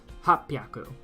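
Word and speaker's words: 八百: So this is where you use the other pronunciations. Sanbyaku. Sanbyaku. And then you have for pyaku, it is hapyaku.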